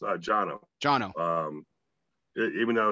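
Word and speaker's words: Cano: in ireland so it was jono it's actually pronounced uh jono jono um even though it's kano as i well said kano until i was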